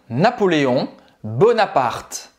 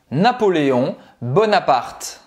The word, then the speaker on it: Napoléon Bonaparte: Você não vai pronunciar o E no final. Então, a única dificuldade é essa, é que o nome dele não é Napoleão, e o E no final do nome dele não se pronuncia. E o T em francês tem o som T mesmo, tá? Não é ti.